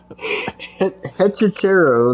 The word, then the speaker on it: Hechicero: Hechicero, that's how you say it.